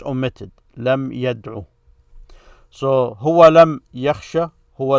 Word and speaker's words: يدعو: But the way you pronounce it is هو لم يرمي أو هو لم يدعو. You don't extend that O as you would in this state here.